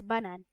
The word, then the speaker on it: banane: And banana in French it's basically the same as in English, but it's pronounced as banane.